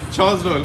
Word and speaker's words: Chosdol: मेरा नाम छोस डोल है। क्या नाम है? छोस डोल। छोस डोल, कैसे प्रोनाउंस करेंगे? छोस डोल।